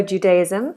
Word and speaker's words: Judaism: J. This is a sound that a lot of people struggle with. It's like a D, d, d, d, but a little bit more of the tongue is making contact with the roof of the mouth. J, j, j. Jew, like a little W, Judaism. Z sound. Judaism, Judaism, Judaism.